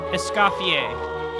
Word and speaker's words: Escoffier: That's where we'll find Escafier anyway. Essafier. Yeah, the R is silent. I keep forgetting that this is all French.